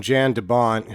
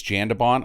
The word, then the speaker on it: Jan de Bont: and bringing in, and I don't think it's Jan De Bont, I think it's Jan De Bont because he's Dutch.